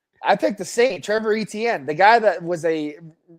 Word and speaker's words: Etienne: No, ETN. Like I know, but ETN. Remember he's yeah. But they say that you're supposed to pronounce their name Etienne.